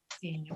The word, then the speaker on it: Ksenia: See, this is the girl's name that I'm saying to Ksenia. Well, more or less. That's a girl's name in Russian and Ukrainian, Ksenia. It starts with Yes. KS.